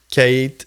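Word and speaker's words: Cait: Kate, là, c'est dur à être prononcé là. C A I T là.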